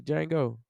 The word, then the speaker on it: Django: that movie Jango the Django come on man the D is silent so you know 25